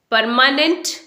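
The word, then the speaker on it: permanent: इसमें बिगनिंग में जो आर दिया है वो साइलेंट है, उसे आप प्रोनाउंस नहीं करेंगे। आप परमानेंट नहीं बोलेंगे, इस परमानेंट, नॉट नेंट, इट्स नंट, परमानेंट।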